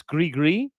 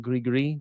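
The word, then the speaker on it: gris-gris: I think if anybody thought uh Oh, it's Grigree. Gri, don't pronounce the S in Grigree. Grigree is a voodoo amulet.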